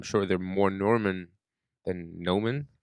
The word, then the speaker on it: Noman: There's no R in my name. It's just Noman. I know. It's You're not Norman? no. Norman is another name, and I'm sure they're more Norman than Noman, like me.